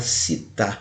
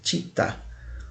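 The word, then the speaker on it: città: da Tijuca significa cidade é muita gente fala cita mas a pronúncia correta em italiano seria ti tá um shopping na Barra da Tijuca então Maio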